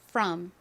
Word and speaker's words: from: 그래서 이 단어를 보통 한국식으로는 from 이렇게 주로 표기하는데 실제 발음은 이 O가 어에 더 가깝게 발음이 나서요. from 이렇게 발음합니다.